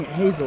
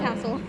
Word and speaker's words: Hassell: didn't know his name i was pronouncing hazel like that no it's hassle like that new movie coming out i made of the